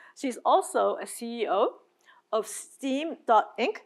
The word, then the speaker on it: STEAM.inc: She's also a CEO of STEAM.inc, that's the right way to pronounce it, and the representative director of STEAM Band Association and a thematic project producer for EXPO 2025.